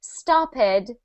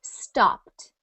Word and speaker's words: stopped: in the past tense I don't say stop it like I pronounced started I say stopped stopped so today we're going